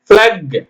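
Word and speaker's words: plague: டி ஓ என் ஜி யூ இ tongue அப்புறம் பிளக் பிளாக் பிளாக் பிளாக்னா கொடி sorry தப்புங்க அது பிளேக்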